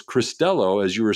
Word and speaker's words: Cristello: I asked before the show, just for a clarification, like I always do, is how to pronounce this, and it's Cristello, as you were saying, but my first inclination